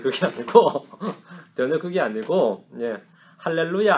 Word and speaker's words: 할렐루야: 아니고 전혀 그게 아니고 할렐루야 알렐루야 격이에요. 히브리 발음으로 할렐루야, 헬라식 하면 H가 떨어지고 알렐루야 이래 되는 겁니다.